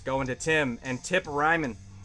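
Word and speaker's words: Reiman: to Tim, and Tip Ryman. Definitely don't pronounce that Riemann. Not with a name like Tip.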